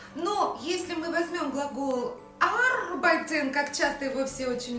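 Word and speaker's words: arbeiten: Но если мы возьмем глагол арбайтен, как часто его все очень любят, только, пожалуйста, аккуратно делайте акцент ударения на первый слог.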